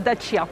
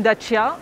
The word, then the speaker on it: Dacia: Alors oui, la prononciation d'origine de sa terre natale, c'est Dacia. Ah, moi je croyais que c'était Dacia. Donc ça peut être un vrai challenge, tu réussis à le prononcer.